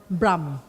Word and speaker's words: Brahm: It's called Brahm Center, Brahm.